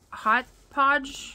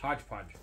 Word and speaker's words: hodgepodge: Hobby Lobby to get hot podge hodgepodge what he said you know Yolanda and her pronunciation sometimes is just ridiculous hot podge that's what I said hot Pudge hodge podge Hodge Hodge so Jelani went